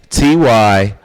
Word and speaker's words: Tyree: Tyree is how you spell Tyree. Tyree. The H is silent.